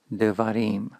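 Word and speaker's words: דברים: Notice how the first syllable has reduced when a new final syllable was added, devarim.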